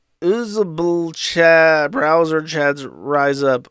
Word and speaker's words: uzbl: It is literally UZBL. Okay. I guess it's pronounced usable.